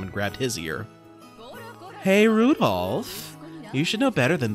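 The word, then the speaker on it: Rudolf: it's just this anyway this guy's name is pronounced rudolph you must hate grandfather for giving him that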